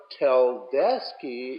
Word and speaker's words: Tedeschi: Winery out of Calistoga is that how you pronounced that last name Tedeschi yeah so tell deski is a Zinfandel producer in Dry Creek Valley of Sonoma but Tedeschi and Calistoga is mostly a Cabernet producer yeah I've seen it I've read a lot about it I never knew that was the pronunciation that's it so Tedeschi